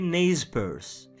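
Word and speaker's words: Nez Percé: Petite anecdote, même en anglais, ils sont appelés n percé bien que prononcé naze PSE.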